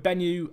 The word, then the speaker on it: Benyu: In the midfield, we go with Benyu and, of course, Gary. Benyu here, or Benyu, I should say. Is it Benyu? It's Benyu, Jack. You were saying it right the first time.